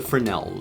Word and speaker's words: Fresnel: is actually called a Fresnel. No, it's spelt Fresnel, but it's not Fresnel. It's called a Fresnel.